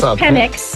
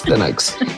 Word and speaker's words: Penix: Yeah, you pronounce it Penix, not the other way. Our opening conversation was not on here, but yes, Penix.